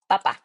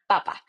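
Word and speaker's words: papá: Okay, if I want to say that, I will say papa. See, make sure that you're not saying papa, because papa means potato. So you want to say papa. Okay, very strong, like papa.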